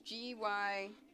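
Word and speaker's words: Gyokuro: Yeah, my absolute favorite is the Gayakura. I have no clue if that's how you pronounce it. It's Gykuro.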